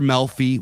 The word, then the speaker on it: Melfi: Melfi, which rhymes with Delphi, where she kind of gives him premonitions.